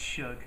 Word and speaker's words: Suge: Kim Basinger, Heidi Montag, Lenny Dykstra, Heidi Fleiss, Suzanne Summers, Stan Lee, Jim Backer, Marion Suge Knight, I probably pronounced that wrong, Jim McMahon, and That's Shug.